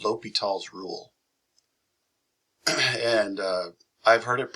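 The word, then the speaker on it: L'Hôpital: But as far as I know, it's pronounced L'Hopital. I've also heard L'Hopital.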